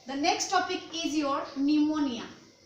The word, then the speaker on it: pneumonia: Today the next topic is your pneumonia. Pneumonia, as I have told you, in biology the word start from P, pronounced as ni, so it's called pneumonia.